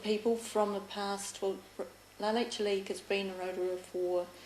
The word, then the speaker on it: La Leche: So, well, let's talk about La Leche. Is that the correct pronunciation?